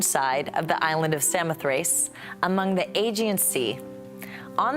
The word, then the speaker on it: Samothrace: by none other than the nike of samothrace originally pronounced samothreiki this masterpiece which is